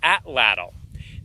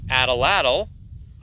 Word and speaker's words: atlatl: Some people call it atlatl. I think it's pronounced atlatl, but call it whatever you want.